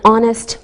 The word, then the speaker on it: honest: like a vowel sound same with an honest man we don't pronounce the h we say a university